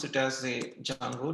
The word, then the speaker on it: Django: say it is a django but actually we need to pronounce it as a jungle d is silent so people say it